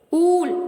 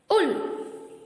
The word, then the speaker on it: wool: Foot அப்படி சொல்லக்கூடாது, ஊல் அப்படி சொல்லக்கூடாது. ஏன்னா அங்க இருக்க ஓஓ நம்ம எப்படி ப்ரொனவுன்ஸ் பண்ணோம்? ஊ. ஸோ ஃபுட், உல்.